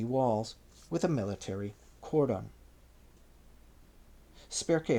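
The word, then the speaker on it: Spercheus: Spare spelled s p e r c h e u s five five.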